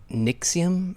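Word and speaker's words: NXIVM: it up its spell it's spelled crazy I think it's Nix iam it's something I smell like in XV sounds like that sounds like a heartburn medication exact yeah yeah yeah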